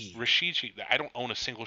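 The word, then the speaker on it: Rashid Shaheed: fine with me um Raheem Shaheed they say his name Rasheed I don't own a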